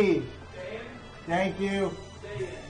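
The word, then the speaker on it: Daein: Dan. Like Dan, Okay. I figured it out.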